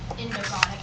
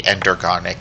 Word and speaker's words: endergonic: So endothermic would equate and endogonic would an endothermic plus non-spontaneous will be endergonic no matter what temperature. That's the right way to say it.